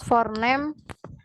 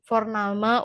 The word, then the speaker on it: Vorname: Lalu kalau untuk yang formal itu ada si plus forename dan Nachname. Maaf, Aussprachenya salah. Vorname und Nachname.